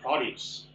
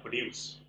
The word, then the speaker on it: produce: Cái từ này nó có hai cách đọc. Cái đầu tiên là produce và cái đọc số 2 là produce.